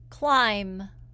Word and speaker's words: climb: The letters MB can also make the sound. It makes the B silent. The reason we have the silent B after M sometimes is that people used to pronounce this B when they were talking. We don't say it anymore, but we still spell it that way.